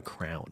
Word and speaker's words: crayon: you ever in your whole life known anyone else who says crayon, pronounces crayon crown?